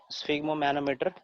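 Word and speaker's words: sphygmomanometer: ठीक है, स्फिग्मो मैनोमीटर, स्फिग्मो मैनोमीटर 3 syllable में पढ़ेंगे, स्फिग्मो मैनोमीटर, है ना। 3 syllable में खत्म करेंगे इसको।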